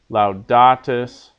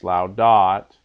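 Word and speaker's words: laudat: laudas Lao dot loudness loudatus loudant right don't make the mistake when you're saying your Paradigm of emphasizing the last syllable it's not loud dot it's laudo loudos loudat loudamus loudatus Loudon very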